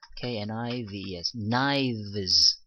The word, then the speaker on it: knives: VES 그렇게 해서 KNI VES knives 이렇게 발음이 된다라는 겁니다.